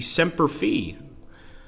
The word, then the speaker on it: Semper Fi: I didn't know that so the Latin pronunciation would be semper fee I guess some Americans always mess